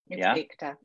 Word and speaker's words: Beakta: I wanted to double check on how to pronounce your last name, but it's Beakta. Beakta.